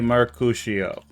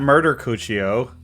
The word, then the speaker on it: Mercutio: It's not Murder Cuccio. It's M-E-R. M-E-R. C-U. C-U. T. I-O. That's how he spelled it. Yeah, but you said Mercutio. I said Mercutio. It's Mercutio. I said Mercutio.